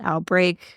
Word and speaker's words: OUTBRK: It's called Outbreak. It's spelled weird. OUTBRK.